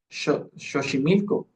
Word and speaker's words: Xochimilco: lo pronunciamos, sino que se pronunciaba como una sh. O sea, por ejemplo, si en aquel entonces hubieran utilizado el nombre de México, no lo hubieran pronunciado como México, lo hubieran pronunciado como México, ¿sí? O como Xochimilco, ¿sí? O Sí, o sea, como ese claro, esos ejemplos donde había palabras que llevaban la X y se pronunciaban con la sh, pero posteriormente esta característica